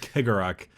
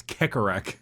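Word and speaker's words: Cegorach: So the Harlequin god is called Kegarak. No one knows how to pronounce it, so it's Kekarak.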